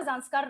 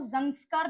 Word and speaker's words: Zanskar: ठीक है, लद्दाख के बाद में आपका ज़ांस्कार रेंज आएगी। कुछ बुक्स में आपको ज़ंस्कार भी मिल सकता है, ZANSKAR, ज़ंस्कार, दोनों स्पेलिंग सही है।